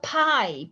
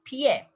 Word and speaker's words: pie: is food the plural ps is not a pie please it's not a pie it's pie and pierna pierna is